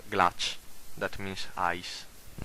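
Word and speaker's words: glaç: It is always pronounced like the English CH, chi, like glach, that means ice.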